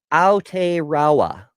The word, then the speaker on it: Aotearoa: Margie says, the unpronounceable thing is pronounced Aotearoa. Aotearoa.